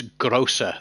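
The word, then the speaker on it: Großer: tier seven but I it's not Grover Tristan it's it's grosser the the symbol that looks like a b is a double s in German it's a grosser first everybody calls it the grow because it looks like a bee um but yeah there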